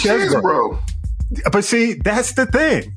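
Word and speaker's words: Chesebro: know they don't know how to pronounced his name until his his attorney said it so it's chess bro it is chess broo but see that's the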